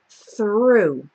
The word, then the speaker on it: through: little bit strange because we have a silent gh at the end so this whole part o ug H is just pronounced ooh so it's important to